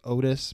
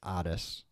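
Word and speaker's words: Ottis: his name oddest tool it looks like Otis but it's pronounced oddest apparently so yeah these guys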